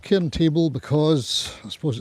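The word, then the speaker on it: Cairn Table: going up a big hill near here called K table. It's called Ken table because I suppose it's kind of flattish at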